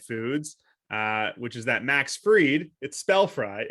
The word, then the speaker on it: Fried: One thing that's a little, on topic for the holiday where you eat fried foods, which is that Max Fried, it's spelled fried, even though it's pronounced Fried.